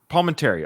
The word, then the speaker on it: Palminteri: Palminteri.